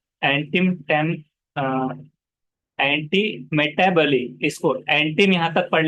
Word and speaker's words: antimetabole: हाँ, एंटीमेटाबली ऐसे। Just on that form. तो So इसको एंटीमेटाबली ऐसे पढ़ना है। तो इसको ये बोले या बोल नहीं पढ़ना है। एंटीम टेम, एंटी मेटाबली, इसको एंटीम यहाँ तक पढ़ लेना है।